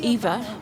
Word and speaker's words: Iva: My name, Eva, spelt with an I, came from, it's actually the village my family's from in Savai'i, but I was actually named after my great-grandmother.